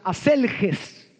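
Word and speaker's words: ἀσέλγεια: La lascivia, según el griego, es una palabra que se pronuncia aselges y quiere decir una sexualidad desenfrenada y una disposición para todo tipo de placer.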